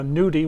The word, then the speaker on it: gnocchi: silent n and uh nudie which starts with a silent g so those italians yeah